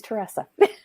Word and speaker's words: Teresa: never actually told you how to say my name and my name is Teressa oh each other's name